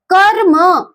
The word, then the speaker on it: कर्म: जैसे कर्म, क के बाद आ का उच्चारण हो रहा है लेकिन अ के बाद तुरंत रा और फिर म का उच्चारण हो रहा है। इसमें र के बाद आ की ध्वनि नहीं आएगी। जैसे प्रकाश, प्रकाश, तो र के बाद आ बोल रहा है लेकिन कर्म में र के बाद आ नहीं बोलता, इसलिए इसको कहते हैं रेफ रा।